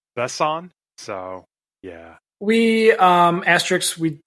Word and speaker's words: Besson: So I Googled how you pronounce his name, and it is, I believe, pronounced not Luc Besson. It's like Besson.